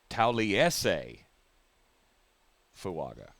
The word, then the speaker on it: Taliese Fuaga: So the A is an all sound. So it's Tauliese Fuaga.